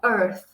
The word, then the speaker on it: earth: e vai dar um pequeno soprinho. Earth, earth. Então, esse é como se fosse um sabe tipo quando você fala pra pessoa der? Então, é meio que esse earth, earth. Depois de um tempo pronunciando, não vai mais parecer tão estranho, ó.